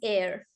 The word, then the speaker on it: heir: This word is pronounced as air.